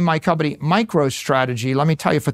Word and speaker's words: MicroStrategy: Now, Now I name my company MicroStrategy. Let me tell you, for 30 years, half our customers mispronounced it, microstrategies.